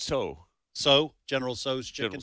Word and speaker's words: Tso: I always call it General Tso's, but how is it actually pronounced? I believe it's so.